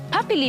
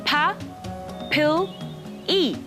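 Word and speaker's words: papillae: bumps here are called papili puppy Lee Baby pep it's pronounced PA pill E okay okay and most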